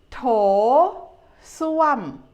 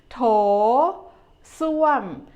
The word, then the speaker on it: โถส้วม: โถส้วม โถส้วม The first syllable, you make it easy with the T sound. โถ and make your lips round. โถ The second syllable, ส้วม is a falling tone.